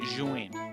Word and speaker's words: Zhiyun: I watched a video from the official company saying Zhiyun.